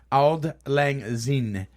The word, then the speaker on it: Auld Lang Syne: It's actually pronounced Auld Lang Syne.